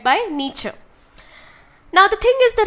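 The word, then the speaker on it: Nietzsche: there is another philosopher thinker his name is nature that's how it's pronounced n we e c h nature okay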